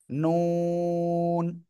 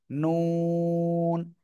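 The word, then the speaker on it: ن: জিহ্বার আগা তার বরাবর উপরে তালুর সাথে লাগিয়ে নুন, নুন।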